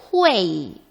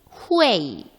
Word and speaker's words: hui: 쓰기만 HUI로 쓰고 발음은 어떻게 한다? 후에이, 후에이 이렇게 하면 되겠죠.